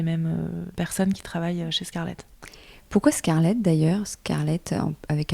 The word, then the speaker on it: Scarlette: deux j'aiess j'ai vraiment on a essayé avec toute l'équipe de de le prononcer à la française Scarlett et ils le